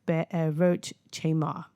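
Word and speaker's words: Be'erot chemar: Now the pronunciation um be a wrote be a roach chamar.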